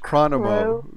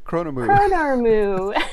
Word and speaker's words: Chronormu: the famous bronze dragon, and how do you pronounce that? Oh gosh. Chronomu. Chronormu.